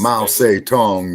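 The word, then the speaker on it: Mao Zedong: the River Dance right now yeah was it Mousie dong that said no inves mous Tong is the correct pronunciation mous Tong mousy Tong yeah what about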